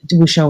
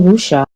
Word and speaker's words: wuxia: What's the wrong pronunciation of wuxia? I pronounce it wuxia. Because the Chinese is wuxia. So if I pronounce it in English, wuxia, yeah, wuxia. I mean, I can't really say wuxia because non-Chinese speakers won't be able to pronounce it.